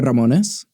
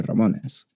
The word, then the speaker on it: Ramones: what do you say Ramones but I can't roll my tongue don't show off yeah well I mean that's that's how I would say my name but like I don't